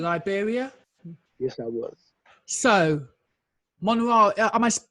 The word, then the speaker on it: Monrovia: So, Monrovia, am I pronouncing that right? Monrovia? Monrovia, yep, you got it.